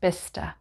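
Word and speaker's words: Bicester: vista village just outside of oxford and it's pronounced bista now the next group ends with which w-i-c-h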